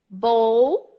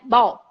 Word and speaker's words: bowl: close like Bowl but the L is very present it's not bold its